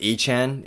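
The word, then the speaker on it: Achane: to me I mean I might say aan throughout this game but it is pronounced Anan and it just it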